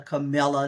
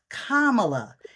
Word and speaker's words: Kamala: I've been going around teaching the other side how to pronounce her name they call her camela they call her all kinds of names but her name is kamela and I love the